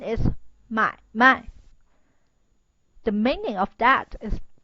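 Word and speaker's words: 买卖: so the pronunciation is 买卖. The meaning of that is business. So you have to pronounce the first character stronger than the second one.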